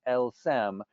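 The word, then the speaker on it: elles s'aiment: maler run together and if we run those letters together and you pronounce it phonetically in french it creates the sentence el sem which means they love each other now drawing on their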